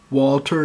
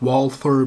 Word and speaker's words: Walther: some really really shitty Walther knives some of you might pronounce it Walther because it's with a th it's a German name but the B gun